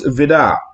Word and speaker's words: Vide: And so it was signed by Hans Vidar. And that's how you pronounce it.